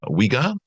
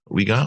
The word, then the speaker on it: Uygar: Today's question, I'm assuming it's pronounced Uygar. Uygar, I think. Hi, I'm Uygar, a long-time listener of the podcast.